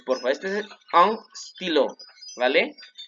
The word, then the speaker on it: stylo: Y luego tenemos aquí un stylo. Un stylo. Un stylo. Ojo, no es estilo. Quiten la E, pónganle stylo.